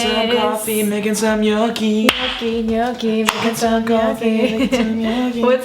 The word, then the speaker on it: gnocchi: So today we are putting together pumpkin gnocchi.